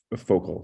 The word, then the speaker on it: Focal: It's spelled like focal, so Focal.